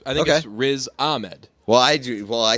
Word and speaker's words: Riz Ahmed: there is a need it's gotta be Riz Ahmed and we say it as a med we say RZA med just because it's easier because we're like there's three syllables one's got to have the emphasis let's go we would say we say RZA med like we think it's raised Ahmed I've never met somebody